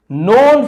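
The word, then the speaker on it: known: नोन जाने जाते थे के साइलेंट है। ठीक है? के एन एक साथ हो तो वहां पे के साइलेंट होता है।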